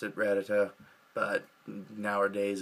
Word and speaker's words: Rattata: it first came out Pokemon was pronounced a lot different than they are now and Rattata and Rattata it was originally pronounced ratata I remember that vividly